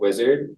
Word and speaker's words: Uizard: Beyond that, there's another tool called Uizard, but it's spelled U-I-Z-A-R-D.